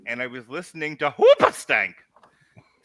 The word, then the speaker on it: Hoobastank: Having said that, I was having a particularly not great day about a year ago, and I was listening to Hoopastank. That's how you pronounce it.